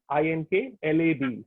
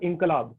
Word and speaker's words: Inklab: Ink Lab is, so it's spelled Ink, INKLAB. So it's a kind of double take. So you have Ink Lab and you have Inkalab. So you kind of the two things come together.